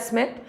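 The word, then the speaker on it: Schmitt: सो वी can call it either call स्मिथ we pronounce it एज स्मिथ, और just calls reaction.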